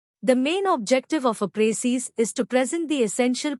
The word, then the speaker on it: précis: Précis. The word précis, pronounced précis, is a noun derived from the French word préciser, which means to specify or to make clear.